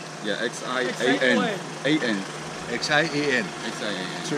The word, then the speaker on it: Xi'an: It's Xi'an, but it's X-I-Z-A-N, right? Yeah, X-I-A-N. X-I-A-N. X-I-A-N. So it's pronounced Xi'an.